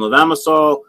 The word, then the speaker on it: levamisole: I know you guys, most of you guys use, I never pronounce this right, is it levamisole?